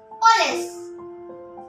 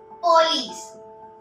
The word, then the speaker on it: police: Third word, police. Police. Everyone say it as police. It is wrong. The correct one, police.